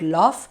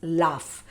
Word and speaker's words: laugh: okay laugh out loud it's not love it's laugh laugh out loud now